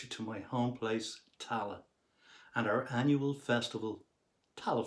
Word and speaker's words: Tallaght: about my home place, Tala. That's T-A-L-L-A-G-H-T. Yes, I know the spelling can be a little bit difficult for non-Irish people, but try it phonetically. T-A-L-L-A and say Tala.